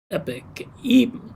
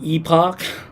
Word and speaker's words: epoch: Let's see, it's pronounced epic. Is it epic? Oh my gosh, man. So basically for 55 weeks I've been saying epoch, like Ewok.